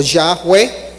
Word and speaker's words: Yahweh: Y el otro es el que más conocemos, que es Yud-He-Vav-He, o Yahweh, que es la manera de pronunciar Yud-He-Vav-He, pero no tiene consonantes.